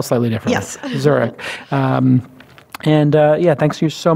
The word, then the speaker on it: Zurek: Angel Co / zurich zu r EK like the city pronounced like the city spell slightly yes zurich and yeah thank you